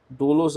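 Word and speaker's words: δοῦλος: E doulos é acentuado com o acento circunflexo aqui no ditongo U, doulos, tá? No ditongo, o acento vai para a segunda vogal.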